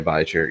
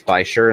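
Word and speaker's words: bichir: He's in there with some Bashirs, bikers, however you prefer to pronounce it. But I say Bicher, yeah. And sometimes it's Bisher and sometimes it's Bicher.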